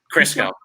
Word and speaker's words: Crisco: Crisco. Okay, we'll go Crisco. Like Monte Crisco, like the sandwich. Monte There we go. Crisco. And if I go. screwed that up, Quentin at home. Rhymes with Cisco, baby.